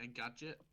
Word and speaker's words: Engadget: First of all, how do you pronounce the website? Is it Engadget?